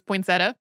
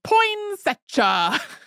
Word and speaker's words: poinsettia: it up, there are people who will still say it is perfectly acceptable to pronounce it that way. I looked it up before we started, and Merriam-Webster had poinsettia listed as the name, and then I can't remember it was like non-standard poinsettia.